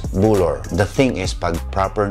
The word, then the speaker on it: bulul: aming mga lola is bulor. Or the other people from other parts of Ifugao may say bulol. But yung kinagisnan ko po, yung mga sinasabi po nila about the figurine na ito is bulor.